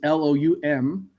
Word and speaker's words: Loum: His first name is Loom, I would assume. It's Loum.